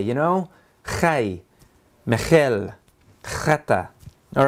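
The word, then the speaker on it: חי: That's the letter, you actually have to say it like you're going to spit and then say hi.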